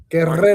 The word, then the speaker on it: Guerrero: You have to roll your R's. Guerrero.